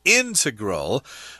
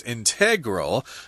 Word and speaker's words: integral: So here we've got the word integral. I've heard British people pronounce this word as integral, but Americans tend to say integral, which means it's necessary to make things totally complete.